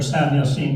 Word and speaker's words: San Jacinto: reason is today is san jacinto day for san jose today if you want to be more accurate in the pronunciation in spanish 186 years ago today